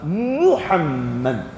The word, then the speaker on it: Muhammad: Arabe, c'est arabe prononcer Mohammed. Muhammad ashadu anna Muhammadar rasulullah ashadu anna muhammad rasulullah deh anne muhammadar rasulullah Rasulullah tr très bien.